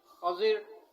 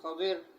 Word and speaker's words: خضر: اور را بھی ساکن، خضر یا خضر، اور تیسرا ہے اس کا خضر، تیسرا تلفظ خضر یعنی خا کے نیچے زیر، ضاد اور را ساکن، خضر، خضر اور خضر۔ تو ان کے اس